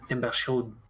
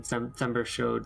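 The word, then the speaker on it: Themberchaud: I thought it said Timber Chud. I mean, that might be how it's pronounced, but it seems like the French pronunciation, Thembershode.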